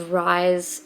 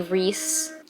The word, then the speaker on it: Rhys: I definitely was just pronouncing this guy's name as Rise and it's apparently Reese, but who has ever spelled Reese Rhys?